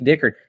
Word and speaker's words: Dickert: Honestly, Jake is it Dickert? Is Yes. that how you say it? Jake Dickert.